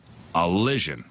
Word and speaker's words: allision: COG ative democracy and allision which which that rhymes with Collision uh an allision is like a collision without the sea but it's when a